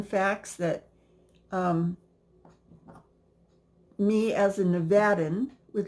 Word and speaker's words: Nevada: and they say it wrong this state is pronounced Nevada not Nevada please don't miss pronounce it because if you're